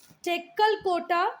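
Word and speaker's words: Tekkalakota: इसका प्रोनाउंसिएशन देख लेना, टेक्कलकोटा कर्नाटका में है, बिहार में है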